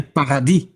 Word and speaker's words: paradis: They say paradis. Paradis. They don't pronounce the S.